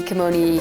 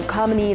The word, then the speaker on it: Kamini: Well, yes, I was tired of people calling me Kamini, Kimoni, Kamani. So Kamini, like harmony, just teaches people how to say it properly.